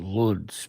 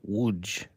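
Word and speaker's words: Łódź: I used to think that the town was called Lodz because it was spelled L O D Z. But then I found out that it's actually pronounced Wuj.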